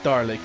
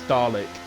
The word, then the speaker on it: Dalek: You take out the R and you would have had it right. It's not Darlick, it's Dalek. Dalek.